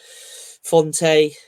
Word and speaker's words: Fonte: Fonte, is that how you pronounce it? Fonte?